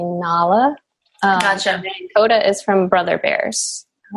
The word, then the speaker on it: Nala: movies are those from nyla is from Lion King and I have been told that we say it wrong it's supposed to be Nala Oda is from brother